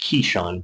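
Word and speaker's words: Kyshawn: I'm pretty sure it's pronounced Keyshawn, but it's K-Y Sean.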